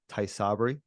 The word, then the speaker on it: Tysabri: So, and that's how you say it, Tysabri?